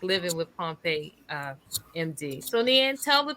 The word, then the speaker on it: Pompe: Neand Pompe? Okay, Y- Pompe yes.